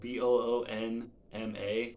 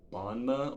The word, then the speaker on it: Boonma: how to pronounce this it's spelled b-o-o-n-m-a which i'm gonna say is bonma or boonma so her her name